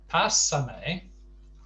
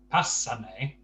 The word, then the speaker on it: pásame: Now, note the accent placement on the two words. Pásame has the stress on the first A, pásame. The other one has the stress on the penultimate syllable, pasarme. Now, to an English ear,